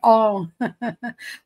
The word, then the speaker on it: om: Eh, Raridast, segunda regra do sânscrito, a união sand a com o U. A pronúncia passa a ser ó, então pronuncia-se om.